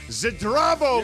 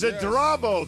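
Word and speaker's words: Zdravo: Zrao, Laker fans. Zrao. That is how you say hello in Slovenian.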